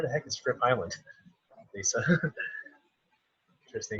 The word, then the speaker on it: Lise: Lisi, Jersey Shores, and love Aruba. Okay, well, can't complain about that. Yeah, it's pronounced Lisa, but nobody Lisa. ever says it correctly.